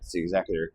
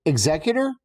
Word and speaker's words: Executor: So, Exeutor versus Executor, same ship, wildly different energy.